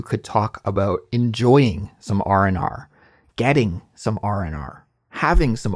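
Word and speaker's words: R&R: smooth word even though it's technically the letter R plus the word and and the letter r one more time but when we're pronouncing it we just say RNR so keep note of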